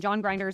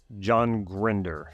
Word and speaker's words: John Grinder: in Richard Bandler and John Grinder's 197 Okay. John Grinder, not John Grinder.